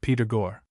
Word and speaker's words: Pythagore: This of course is an anglicization of the French Pythagore pronounced like Peter Gore.